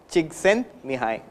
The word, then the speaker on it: Csikszentmihalyi: you learn how to spell the name and pronounce it I'll tell you it is me hi jigs and me hi me hi Csikszentmihalyi so Eastern European origin he has worked in